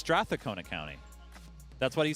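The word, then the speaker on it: Strathcona: saying it wrong all this weekend straon it's stona County that's what he said it's stona County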